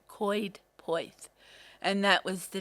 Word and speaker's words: Coed Poeth: where called Coed Poeth, but it's spelt Coedpoed, but you say it Coed Poeth, and that was the name of the village.